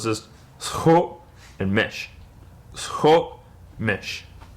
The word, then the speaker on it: Sḵwx̱wú7mesh: just hope and Mitch hold Mitch the seven in the middle of the word is just telling you that there is a glottal stop or a brief pause after the vowel first bottle you can